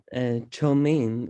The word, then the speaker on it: Cho Min: And my name is Cho Min, which you can remember my name, and it is pronounced like Truman.